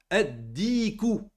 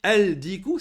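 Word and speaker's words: الدِّيكُ: Ad-diku. Ad-diku. Si vous dites al-diku, c'est une faute.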